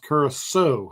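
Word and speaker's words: Curaçao: Curacao is pronounced Curacao. Oh, I knew that the little squiggly line under the C meant it sounded like an S.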